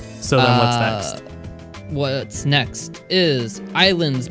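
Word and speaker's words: Ylands: uh what's next is Islands but with a why it's coming seem early access later this year yep it's by Bohemia Interactive oh great devs how it felt fantastic yeah why Lance but it's pronounced islands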